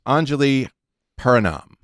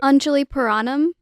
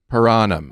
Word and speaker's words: Anjali Puranam: It's Anjali Puranam. Hi. Did I say it right? No, I didn't. It was close. So how should I say it? Anjali Puranam. Puranam. Yeah.